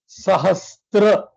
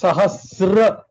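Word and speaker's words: सहस्र: Please understand, many places we get this word pronounced as Sahastra, That's wrong. which is wrong. There is no Sahastra, it is Sahasra. So it is no ta.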